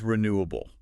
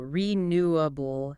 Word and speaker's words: renewable: Well, let's start with renewable. Any tips on how to say it clearly and confidently? Renewable. Okay, so the emphasis is on the second syllable, renewable, able.